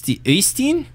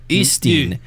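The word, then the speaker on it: Øystein: It's Ustin. It's supposedly Ustin. Like the I in bird or something like that. Ustin.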